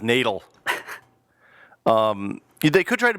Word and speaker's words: Natal: It's pronounced natal.